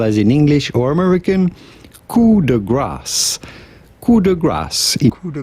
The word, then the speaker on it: coup de grâce: How do you go about pronouncing this in French with the typical French pronunciation as well as in English or American? Coup de grâce.